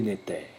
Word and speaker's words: néther: De cette trinité primordiale naissent tous les néthers, prononcés néther.